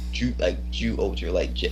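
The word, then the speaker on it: Zyuohger: Well, actually, the way most people would pronounce it, they would say Ju Oger, with a J.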